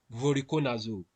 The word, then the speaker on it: voriconazole: So the treatment for aspergillus infection, the first thing is voriconazole.